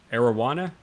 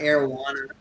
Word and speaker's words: arowana: Arowana? Is that Yeah. it? Arowana.